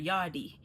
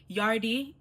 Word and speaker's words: yardie: But a lot of you guys out here are saying yardie. Like there's no R. I don't know where the R came from. Where did you guys get this R from? Remove that R and let's just stick with yard.